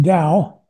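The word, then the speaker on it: 道: It's pronounced Dao. Pronounced Dao, and it means the way.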